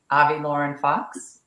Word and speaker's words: Avi Lauren Fox: going to be speaking with I hope I've pronounced your name right Avi Lauren Fox you got it all right girl uh Tracy